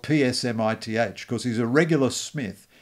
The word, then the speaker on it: Psmith: just turns it into p smith and of course there are dozens of pages of humor where he's telling people that it's the p is silent as in tarmigan or